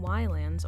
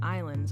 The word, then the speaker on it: Ylands: hey everyone after playing Wyland's or how it's actually pronounced islands on the stream for